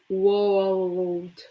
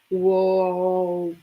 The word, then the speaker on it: world: up okay the tongue when you pronounce the L the tongue is higher so world that's the way it's not perfect but it's the the way that I pronounce it world world yeah that's why